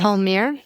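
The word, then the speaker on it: Palmyra: Pa Palmir.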